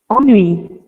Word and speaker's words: ennui: How do you pronounce it? Ennui. Okay. In France, it's oni. Yeah. Yeah, in French it's ennui.